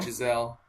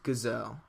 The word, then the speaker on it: Giselle: Okay, well, it's spelled with a G, so I wasn't sure how to pronounce it. Well, no, it's you pronounce it like Giselle because, like, Tom Brady's wife. No. You know. No, I know. I didn't know if it was Gazelle. No, it's Giselle.